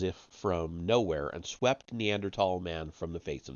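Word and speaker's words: Neanderthal: Germany by the way neandertal Valley I know there's a th the H is silent in spite of the passage of more than two million years between Advanced Australopithecus and neandertal the tools of these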